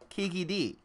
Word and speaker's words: Kiki D: No, it's TJ is actually saying actually it's K-E-E-K-E-E-D-E-E. Kiki D.